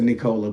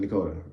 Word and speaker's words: Nicola: And even though it's an L, they pronounce it like it's an R. So it looks like it's Nicola, but they pronounce it Nicola, like an R, because again, Japanese.